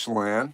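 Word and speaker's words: Chelan: Lake I'm gonna pronounce wrong. Shayen Shalon in Washington. Oh, Lake Shalan.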